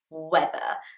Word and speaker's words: whether: First of all, yes, the pronunciation of weather, as in, wow, the weather is lovely today, it's so sunny and bright, is exactly the same as weather. The same pronunciation for weather, as in the sun, you know, the day, and weather, as in the word I'm teaching you today.